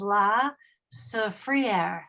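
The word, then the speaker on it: La Soufrière: largest Peak which is pronounced in a French way is La Sa frier La sofr it's active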